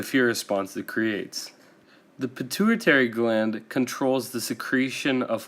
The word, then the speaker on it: pituitary: response that creates the pituitary gland controls the secretion of hormones throughout the glands in the rest of the body to remember this think of the word maturity which rhymes with pituitary maturity happens when you